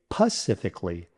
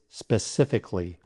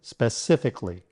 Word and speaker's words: specifically: Now, some people mistakenly say pacifically, but the correct pronunciation is specifically, with 4 syllables. Remember, drop the A in Cali. 4 syllables and drop the A. Don't say Kali, Kli. So let's break it down. Spe, sif, rhymes with if, ik, li, pronounced li, specifically, specifically.